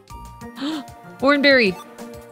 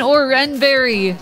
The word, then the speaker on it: Oran Berry: fight you shet oreberry no it's an Oren Berry damn it uh flare